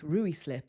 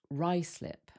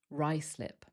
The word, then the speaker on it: Ruislip: This one looks like Ruislip or something, but it's actually pronounced Ruislip, Ruislip.